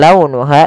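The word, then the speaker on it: لونها: Kemudian pelafal launuha, lembutkan pelafalannya dalam launuha karena ada huruf waw yang sukun didahului dengan fathah. Ha ada mad tabi'i, panjangnya 2 harokat.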